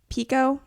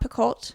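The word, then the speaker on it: Picoult: and so we got 19 minutes by Jody Pico do you guys know that how her last name is pronounced Pico and not picolt because I just learned that I watched a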